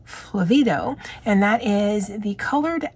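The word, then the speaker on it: flavedo: and I had to write it phonetically as well as how it is enunciated and when you're looking at anything phonetically anything in caps is where you emphasize so flavido and that is the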